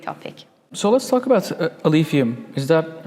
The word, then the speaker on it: Alephium: So let's talk about Alephium. Is that how I pronounce it?